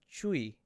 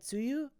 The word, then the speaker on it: Tzuyu: So crazy, because I've known her name forever, and you guys even said that it was Chui, right? You don't pronounce that Tzuyu?